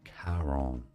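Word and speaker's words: Charon: mythology in which case it is more likely to be said as Karon. Kon Kon sometimes Karon as well Kon. So there are pronunciations for the word and it's a bit of a debate.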